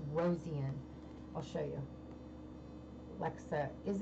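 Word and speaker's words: Rosean: I always say her last name wrong, but it's Rosian.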